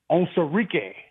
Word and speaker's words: Onwuzurike: And you got Levi Onwuzurike.